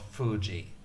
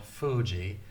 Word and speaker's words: Fuji: It's usually transcribed with spelling F-U. Mount Fuji. It's not Mount Fuji. It's not a F like in English. Mount Fuji.